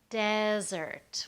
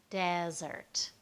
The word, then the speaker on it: desert: second part all right one last example is desert desert where we stress the first part that's a dry area maybe the sahara desert or the Mojave Desert but we can take that same word and stress the second part and it becomes an action desert right in that case it means to leave right to leave someone